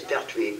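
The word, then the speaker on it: Perthuis: The name is Pertwee, P-E-R-T-H-U-I-S, small.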